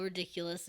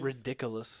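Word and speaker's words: Riddikulus: bogur bogot um yeah you say the spell ridiculous and you think of something silly ridiculous yeah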